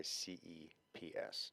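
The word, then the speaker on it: Cordyceps: o r d y c PS not that you'll need to spell that but yeah like Cordy yeah the the Y is the is a little light you don't have to enunciate the Y CPS um so this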